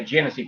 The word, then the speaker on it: Genesee: But for the United States, it's basically a Genesee product.